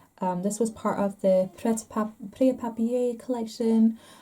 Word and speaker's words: Prêt-à-Papier: This was part of the Prêt-à-Papier collection. I've been told you don't pronounce the T in Prêt-à-Papier.